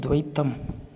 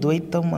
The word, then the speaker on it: துவைத்தம்: இப்போ துவைத்தம் இது சொல்லாடல் வந்து துவைத்தம் அந்த இத்துன்னு சொல்லி தான் உச்சரிப்பு வரும். ஆனால் இங்கே தலைப்பில் துவைதம் அப்படின்னு போட்டிருக்கு, அந்த இத்து அழுத்தமாக உச்சரிக்கப்படலை.